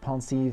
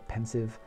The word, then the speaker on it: Pensieve: He has his table with all of his little trinkets, the pensieve in the one corner, or the pensive, depending on how you want to pronounce it, where Dumbledore can go over his memories and things from the past.